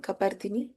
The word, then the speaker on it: कपर्दिनी: You know, you when you say Parvati, how do you say? Can you chant Parvati? Say Parvati. Parvati Yeah, very good. So same pa is used here.